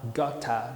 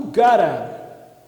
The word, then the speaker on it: gotta: Provavelmente o britânico vai falar gotta. Se for falar essa palavra, vai falar gotta, vai pronunciar o T mesmo, tá? Bom, vamos lá. O gotta é a expressão de have to.